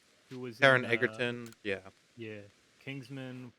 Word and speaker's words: Taron Egerton: Taron Egerton, who was Taron Egerton, yeah.